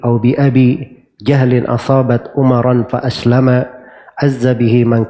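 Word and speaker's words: عمرا: Ya, bacanya Umaran ya, harusnya kan tidak boleh di tasrif ya, Umar harusnya, tapi ini ikut wazan syairnya. Iya, dia harus mengikuti wazan syairnya agar supaya wazannya menjadi mustaf'ilun, mufta'ilun, mafa'ilun.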